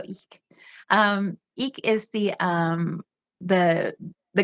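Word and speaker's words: Ik': So, and Ich is which it's spelled IK apostrophe, so Ich.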